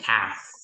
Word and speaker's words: calf: spell it that it's there, but they don't pronounce it or they don't read it. So it's like silent letter, and these are the commonly mispronounced word.